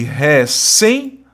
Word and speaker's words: recém: E no caso de recém, sílaba tônica é a última, palavra oxítona terminada em EM, né?